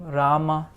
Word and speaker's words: Rama: So we have the Ra sound being attached to a short and the Ra sound being attached to a long So Rama, Ravi.